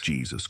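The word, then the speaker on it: Jesús: my name is Jesus Jesus Christ guys it's pronounced Jesus it's a common mistake but it's Spanish name is pronounced Jesus I like your Ro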